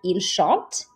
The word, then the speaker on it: chante: So if you're pronouncing verbs and you say a sentence like il chante, these two are pronounced exactly the same. You don't pronounce the T at the end because it's not one of these consonants, C, R, F, or L.